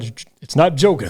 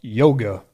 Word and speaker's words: Jóga: Now, it is a J, Ryan, but it's not Joga, though. It's pronounced Yoga. Gotcha. And that's because the song is a dedication to Björk's close friend, whose nickname was Yoga.